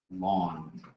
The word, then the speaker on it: ln: L N X and L N is pronounced lawn.